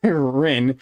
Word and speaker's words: Rin: I've been saying it wrong the entire time. But Rin is what it is.